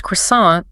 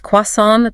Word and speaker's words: croissant: When Daniel says croissant, the stress is at the very end. The T is completely gone.